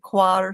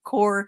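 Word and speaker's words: coir: Some people pronounce it quir, some people pronounce it core.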